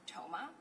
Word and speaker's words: Thoma: Toma. My last name is spelled T H O M A.